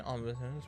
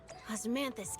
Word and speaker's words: Osmanthus: We've got strawberry and osmosis. Which one would you like? I want to go with the osmosis flavor then. Here you go. So the candy. Take care. Osmanthus candy. That's how you say it.